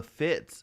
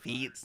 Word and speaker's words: Fitts: So I'm sure my dad, you know, growing up pronounced it Feets, you know, but it's fucking Fitz coming from his dad, right?